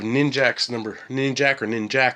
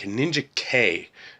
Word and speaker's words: Ninjak: Next up we have Ninjax #16. It's actually, I think, Ninja K is how you're supposed to pronounce it, kind of like it's not Weapon X, it's Weapon 10.